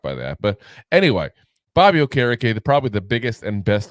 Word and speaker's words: Okereke: Is that Okereke? No, Okereke.